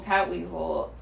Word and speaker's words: Catweazle: So you gotta Google Cat Weasel, and it's spelled Catweazle.